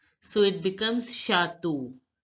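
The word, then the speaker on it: château: say C stands for shato which means Castle now look CH is pronounced as sure in French that you all know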